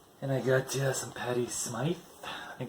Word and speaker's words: Smyth: And I got some Patti Smythe. I think it's pronounced Smythe. Could be Smith. I think it's Smythe though.